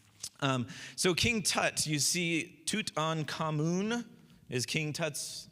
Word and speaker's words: Tutankhamun: So King Tut, you see Tutankhamun is King Tut's like full name, right?